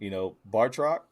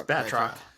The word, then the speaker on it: Batroc: And, Bartrock, was that how you pronounce his name, Mike? Bartrock? It's Batroc.